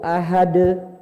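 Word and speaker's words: أحد: Kalau yang sedang langsung dipantulin. Contohnya surat Kulhu. Qul huwallahu ahad. Ahad. Beda, Pak. Ahad. Watab. Sama-sama di akhir. Ini enggak ada tandanya, ini ada tandanya. Cara bacanya beda. Kalau ini langsung mantul. Qul huwallahu ahad. Ahad. Langsung mantul.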